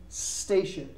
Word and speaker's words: station: to say it again we say station we don't say it's station many times when we have a verb word starting with s in English we have the tendency of adding an A in front of it in English we do